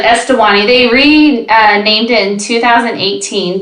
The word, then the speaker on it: Eswatini: Now it's named Eswatini. Oh. I actually practiced saying this earlier and I'm not saying it right, but I wouldn't be able to help you. It's like Eswatini.